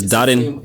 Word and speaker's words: Darin: Simply Darin. Simply Darin. Yeah, you just have to say Darin.